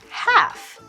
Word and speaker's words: half: meet at halfast 7 our silent consonant is the L in half we won't say half we will say half pretend it's h f f let's meet at